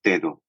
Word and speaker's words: Daedo: Daedo or Daedo? Yes, it seems like it's a global confusion, right? It's actually pronounced Daedo.